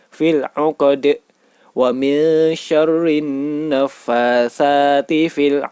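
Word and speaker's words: في العقد: Cara membacanya yaitu dipantulkan. seperti bunyi huruf E atau E, fil 'uqad.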